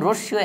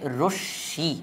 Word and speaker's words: রশ্মি: আর এখন আমরা এখানের মধ্যে লিখে ফেলব রশ্মি কাকে বলে, এবং রশ্মিও একদম সহজ। আর এটার উচ্চারণ কিন্তু হবে রশ্মি, অর্থাৎ এই তালিবাসটা দুইবার উচ্চারণ হয়ে যাবে, রশ্মি।